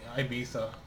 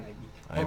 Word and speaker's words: Ibiza: Did I go to Ibiza? Where? Ibiza? Ibiza? Yeah. Where's that? Ibiza. It's like Why are you No, saying it's pronounced Ibiza. Okay, fine, Ibiza. Or Ibiza. Ibiza.